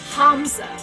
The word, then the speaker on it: Hamza: No, Hamza. The second H is implied, different twist on the syllable.